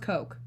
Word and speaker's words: Koch: Koch industry coke coke coke industries yeah it's pronounced coke uh-huh oh yeah I did not know that